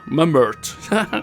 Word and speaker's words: Mumbert: It's like mum, as in your mother, and ert, as in Bert, without the B.